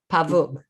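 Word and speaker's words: павук: is pavuk is that right yeah it's like pavuk okay that's fantastic you guys because a pavook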